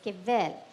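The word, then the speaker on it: חֶבֶל: Okay, it is Chevel, but it's pronounced as kevel, right?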